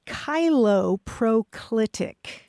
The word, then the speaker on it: cheiloproclitic: The word is cheiloproclitic, and I will spell it.